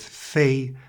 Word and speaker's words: 餥: It says: sounds like F + EI, homophonous with fēi and means, apparently, just, food?